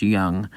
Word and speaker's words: Jung: think it's young it's it's j-u-n-g but I think it's pronounced young uh reached on an